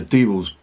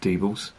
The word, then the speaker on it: Diebels: one here, an out beer from the Diebels Brewery, which is based in a place called Cleve in Germany, right on the border with Holland.